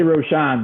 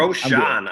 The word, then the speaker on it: Rochon: I say Rochon, but I'll whatever you got for me. Rochon.